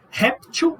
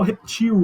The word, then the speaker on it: réptil: Réptil ou réptil. Ficou igual, né? Réptil ou reptil, eu posso falar, tanto faz.